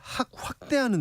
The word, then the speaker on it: 확대: 어제 국토교통부가 빌라 보유자의 무주택 인정 범위를 확대하는 내용을 담은 주택 공급에 관한 규칙 개정안을 공포했습니다. 발음 조심해 주세요. 학대 아닙니다. 확대.